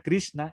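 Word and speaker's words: Kṛṣṇa: cierto que el aire la r con el puntito abajo que se piensa como abrí y después se combinan dos más la la consonante n con el puntito abajo viene siendo cerebral y la s que aquí es donde nos complicamos un poco la palabra anda porque a la n justamente es de prudencia así desde la garganta y la s se pronuncia como cerebral entonces dicen se complica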